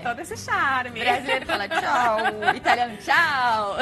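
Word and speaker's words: ciao: Que tem aquela cantadinha no final, né? Tchau. Não é o nosso tchau, tchau. Tchau. É tchau, entendeu? É, tem todo esse charme. Brasileiro fala tchau, italiano tchau.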